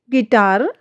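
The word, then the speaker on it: guitar: जब जी के बाद और किसी बाउल से पहले यू आता है तो यू जो लेटर है वह हमारा साइलेंट हो जाता है। स्पेलिंग से देखिए गिटार गार्ड गेस्ट गाइड इन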